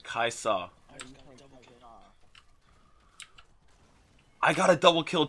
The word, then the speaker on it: Kai'Sa: Kai'Sa.